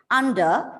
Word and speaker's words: under: pressure makes pens prickle take care of the r2 under as the word ends with the letter r it goes silent it is under under pressure makes pens